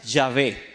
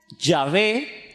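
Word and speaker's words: Yahvé: h ellos dicen que la pronunciación más cercana y acertada es llave se puede decir ya ve pero realmente está hecha intermedia no existe en el español entonces nosotros podemos escribirlo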